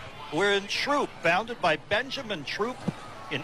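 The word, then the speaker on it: Throop: dis that and these and those we would pronounce the th but no it's troop we're in troop founded by Benjamin troop in 1882 I believe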